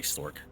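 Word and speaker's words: STORCH: The H is silent because they say Stork.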